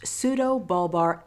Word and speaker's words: pseudobulbar: Pseudobulbar Affect, or PBA, is a medical condition that results in sudden and uncontrollable episodes of laughing, crying, or both. PBA is pronounced pseudobulbar affect.